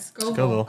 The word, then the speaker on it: Scoville: You said it right, Scoville.